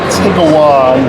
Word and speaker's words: Tiguan: But you pronounce it by Tiguan, bro. that's what I said. I said Tiguan.